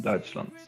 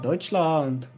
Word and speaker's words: Deutschland: i think he's german benjamin roller he's from dutchland yeah deutschland i don't know why i actually i i do know why i pronounced it like that slump because i was